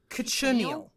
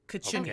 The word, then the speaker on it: cochineal: Cochineal. okay. Yeah, that's how you Why pronounce not? the bug. Cochineal.